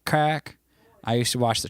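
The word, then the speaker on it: craic: And it's pronounced like crack.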